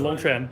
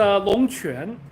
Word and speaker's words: Longquan: Well, it's a Longquan. It's a sound that does not exist in English, so it's kind of hard.